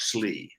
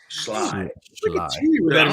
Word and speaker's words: Schley: Auburn does like him on the outside from Schley County, not Schley, not Slee. Schley.